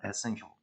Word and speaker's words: essential: 여러분들 요 단어 essential이라고 읽어요. shall, till 이렇게 읽지 않습니다. essential.